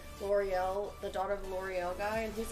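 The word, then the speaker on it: L'Oréal: what was the thing i really butchered one time i was like ello real oh it's like l'oreal we were talking about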